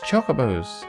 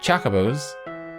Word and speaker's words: Chocobos: cherubims in the finals no pronunciations all wrong it's chocobos not Chaca bows all our Nets chocobos